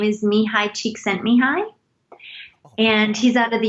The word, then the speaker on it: Csikszentmihalyi: A Hungarian psychologist, his name, and I believe I'm saying it right, his name is Mihai Csikszentmihalyi, and he's out of the University of Chicago, I believe.